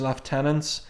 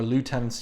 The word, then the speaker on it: lieutenant: it's one of Bishop's left tenants um and our lieutenants use the American pronunciation either Randall or Malcolm